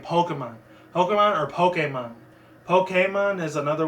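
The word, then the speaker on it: Pokémon: And the way I say it, there's 2 different pronunciations how I say Pokemon. It's Pokemon, P-O-K-E-M-O-N.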